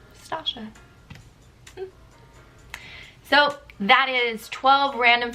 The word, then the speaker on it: Stacia: That's how you pronounce my name, Stacia.